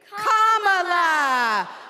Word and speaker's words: Kamala: do you pronounce it first you say comma like a common in a sentence then you say la like la la la la la put it together and it's one 2 three comma all right so let's